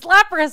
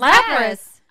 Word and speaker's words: Lapras: Oh, it's Lapras, isn't it? Lapras. That is Lapras.